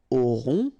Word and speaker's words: aurons: Okay, nous aurons. Final S not pronounced. O and N together, nasal. On.